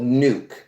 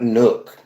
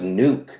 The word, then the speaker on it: Nuuk: So Greenland, the capital and the first city of Greenland is called Nuuk. That's how it's pronounced, folks. Not Nook. It's pronounced Nuuk.